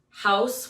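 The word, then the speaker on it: Houzz: home advisor angie's list house which is spelled h-o-u-z-z porch and i'm saying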